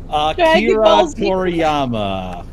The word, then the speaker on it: Akira Toriyama: Akira Toriyama.